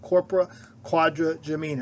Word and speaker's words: corpora quadrigemina: have challenges pronouncing this let's break this word down Quadra quod for Gemini Gemini twins the person who named the structure thought it looked like two sets of twins now you may be